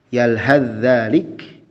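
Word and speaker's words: يلهث ذلك: Yalhadzalik, maka huruf tha melebur ke huruf zal. Yalhaz dzalik. Tapi dibacanya yalhadzalik karena tha dan zal berasal dari satu makhraj.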